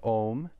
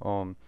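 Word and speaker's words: ॐ: everybody knows this uh om is not just two sounds it's not o and um it's three sounds because within the o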